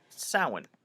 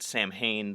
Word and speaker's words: Samhain: that a word inclined call it salad and if you pronounce it Samhain then yeah you got some homework to do so this time of